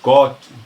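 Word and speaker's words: Sukkot: Nós vamos lembrar que a festa dos tabernáculos ou a festa das cabanas ou cot, como é a pronúncia no hebraico, ela acontece no 15º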